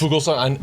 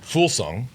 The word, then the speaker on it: Fuglsang: Fuglsang, and I know his name is actually pronounced Fulsang.